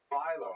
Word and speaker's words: Philo: Philo, right? Like the dough. Rhymes with Milo, right? That certainly makes sense, and that's corroborated by all the websites I could find that tell you how to pronounce Philo. The problem is, in Greek, it's clearly philo. It's actually philon in Greek with an N sound at the end.